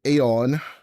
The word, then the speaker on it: Aeon: But I do believe with the Greek origin of eternity / life, the proper pronunciation would be Aeon. Not to be confused with Aeon Disc, but, you know, written differently, pronounced the same.